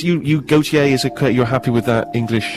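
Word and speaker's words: Gotye: Big round of applause, please, as we welcome Gautier. Thank you very much. Now, I may be pronouncing that wrong. Is it Gautier, Gertier, Goiter?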